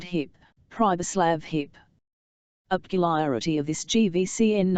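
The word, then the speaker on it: Pribislav: with whom Hans Castp spoke was called hip privlav hiparity of this GVCN n was that you were to pronounce it as though it was spelled pubislav and the singularity of the appellation suited the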